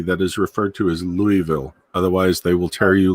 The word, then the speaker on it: Louisville: it wrong I suppose in the French you don't pronounce the S Tia no and and